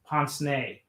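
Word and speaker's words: pince-nez: it's spelled um pins nas but it's it's pronounced poncene and these are the glasses that you see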